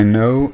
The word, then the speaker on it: know: I know it's my destiny. I know it's my destiny. Donc rappelez-vous le KN, hein, je l'ai dit tout à l'heure, on ne prononce pas le K.